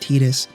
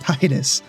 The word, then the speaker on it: Tidus: a deeply personal level Titus I know it's pronounced tetus I don't care I don't want to say tetus it makes me feel weird inside so we have Titus our charismatic sometimes overly enthusiastic protagonist who's been